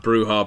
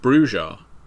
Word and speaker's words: Brujah: listen to this podcast will have heard Bruhar being pronounced Brujah. And I remember when I first played that video game, I was surprised that Bruja was in it rather than Bruhar.